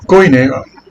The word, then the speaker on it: koiné: El koiné, se lo pronuncio así porque ustedes lo conocen así.